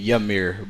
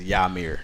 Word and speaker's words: Yamir: A lot of people uh call me Yamir, but my name is Yamir.